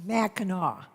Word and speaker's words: Mackinac: of the michigan residents corey what's that it's pronounced mackinaw mackinac smackdown are you familiar with it yourself yes i am mackinac island is up between the upper and lower